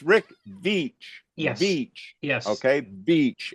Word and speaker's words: Veitch: But I can tell everybody out there, it's Rick Veitch.